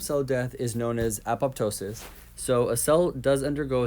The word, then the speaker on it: apoptosis: Now this name, most of the time I've heard it pronounced apoptosis. There have been a few times that I hear apoptosis or apoptosis or apoptosis.